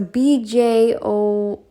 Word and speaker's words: Björn: I'm sure it's like a Y as well, pronounced like ya. So BJORN.